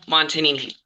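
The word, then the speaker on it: Montagnini: Montanini. The G is silent.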